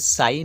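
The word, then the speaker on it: sign: কোথায় কোথায় সাইলেন্ট থাকে এস আই জি এন্ড দেখো এস আর আই এর পরে যে জি এর উচ্চারণটা নেই তাই সাইন হচ্ছে অর্থাৎ চিহ্ন তারপর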